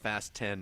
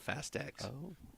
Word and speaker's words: Fast X: email when they're like just remember this is pronounced fast 10 not Fast Tax they did well then you know what there